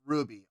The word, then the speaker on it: RWBY: here we go ruby i i know it's pronounced ruby rwby by noah's pronounced ruby uh red like roses parts one and two